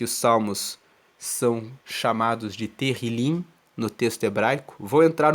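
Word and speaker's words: Tehilim: Que os salmos são chamados de Terrilim no texto hebraico.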